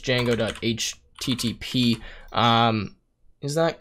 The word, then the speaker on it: Django: to say from uh jenggu dot dot http and then response we're going to import uh http response now i believe i probably butchered this yes sorry so it's actually just django.http um is that correct